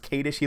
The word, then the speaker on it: Kadish: I appreciate that in his last name is pronounced Katie she let me know and